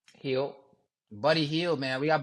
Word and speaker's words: Hield: Hield.